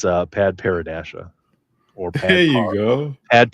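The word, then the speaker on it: padparadscha: Yeah, can you please pronounce that for us? Yeah, it's Pad Paradasha or There you go.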